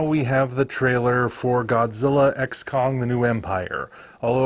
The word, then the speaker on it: Godzilla x Kong: have the trailer for Godzilla xcong the new Empire although apparently you're not supposed to pronounce the X so it's just Godzilla Kong the new Empire well whatever it winds